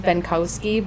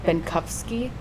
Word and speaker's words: Benkowski: It's originated from Germany, but it's pronounced differently in Germany than it is in the United States. Like my last name is Benkowski, but how the Germans pronounce it, it's Benkowski, with like a F sound instead of a W,